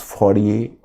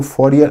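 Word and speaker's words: Fourier: Saint Simon, Charles फॉरियर, Robert oven, पहले तीन, फिर ये सेंट साइमन, चार्ल्स फॉरियर, ये है, इसको फॉरियर अंग्रेजी में बोलते हैं, हिंदी में फोरिये बोलते हैं, फोरिये प्रोनाउंस होता है फोरिये।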